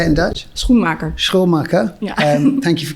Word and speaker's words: Schoenmaker: Schoenmaker.